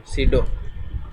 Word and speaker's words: pseudo: ये होवर एक सीडो class है, इसके स्पेलिंग है PSEUDO, सीडो, ठीक है।